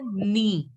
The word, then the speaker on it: nid: So nest is pronounced as knee. Knee. D you don't have to pronounce. Generally in French, the last letter is not to be pronounced.